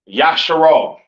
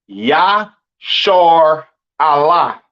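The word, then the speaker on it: ישראל: And Israel is not pronounced Yasharal. It's not pronounced Yisrael in the Hebrew. That is not how you pronounce Israel. Israel is pronounced Yashar Allah.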